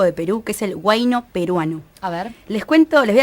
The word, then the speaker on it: huayno: En la literatura usual en el Perú se escribe huayno, pero algunos dicen huayñu, que es en quechua, huayñu.